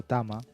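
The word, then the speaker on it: טמא: Bien, esta palabra que es la que traducen acá por contaminado o por inmundo, tame o tama. Exacto. Tame o tama, porque se puede pronunciar de las dos maneras.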